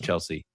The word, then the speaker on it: Chelsea: We got Chelsea, also not pronounced Chelsea, even though there's an A at the end. I don't know if everybody knew that, but it's just Chelsea.